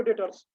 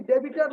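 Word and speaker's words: debtors: वो नोट करके लिख लो भाई, देखो डेटर्स नहीं, डेबिटर नहीं होता है, डेटर्स बी साइलेंट होता है बच्चे।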